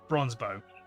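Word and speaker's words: Bronzebough: Bronzebow. Bronzebow? How it's pronounced?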